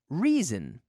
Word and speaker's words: reason: Reason. Reason. What is the reason? What's the reason? Reason. Reason. Reason. Now, the S sounds a little bit like a Z.